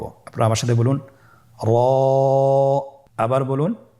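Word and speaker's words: ر: র হরফটি এখানে আমরা পোর করে উচ্চারণ করব, মোটা করে উচ্চারণ করব, এবং র হরফটি এক আলিফ টেনে পড়ব। আপনারা আমার সাথে বলুন, র।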